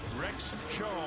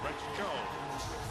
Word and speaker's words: Rex Tso: Rex Cho, spelled T-S-O, pronounced C-H-O. Rex Cho.